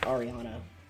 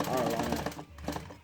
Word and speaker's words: Ariana: It's Ariana, not Arlana.